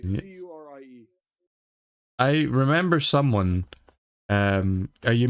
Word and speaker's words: Curie: It's a French pronounced word.